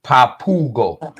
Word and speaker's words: Papago: Papago pronounced Papugo, so it's pronounced Papugo Uh-huh.